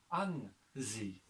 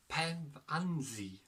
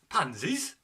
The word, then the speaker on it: Pevensey: It's pronounced as Pevensey. Pevensey. Pansies?